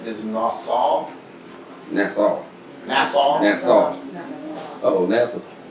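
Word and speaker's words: נשא: The pronunciation is Nassau.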